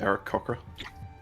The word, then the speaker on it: Aarakocra: I believe it's pronounced Eric Cochra.